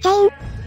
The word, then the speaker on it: 蛇陰: はチェーンだぜチェーン蛇に影って書いて全員と読むなまあそういう